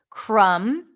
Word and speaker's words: crumb: at the end bomb comb Tom very good crumb pick up the crumbs thumb very good thumbnail